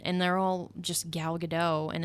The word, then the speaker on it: Gadot: I mean, the Wonder Woman posters, they did 4 teasers for that one, and they're all just Gal Gadot, and it's I said her name wrong, Gadot.